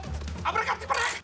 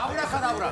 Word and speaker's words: Abracadabra: Abracatabra! [He pronounced it wrong] Abracadabra.